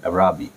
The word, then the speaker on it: Araby: আজকের গল্পের নাম হচ্ছে আরাবি, এটাকে অনেকে বলে অ্যারাবি, ব্রিটিশ প্রোনাউন্সিয়েশনে আরাবি, আমার কাছে আরাবি বলতে সুন্দর লাগে, তবে এটা সঠিক উচ্চারণ অ্যারাবি।